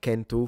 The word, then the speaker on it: centu: They even still have the C pronounced like a K at least in the north for like centu for 100, which was centum in